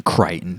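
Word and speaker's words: Crichton: a verse sample verse last name kryon rhymes with frighten there's your opening verse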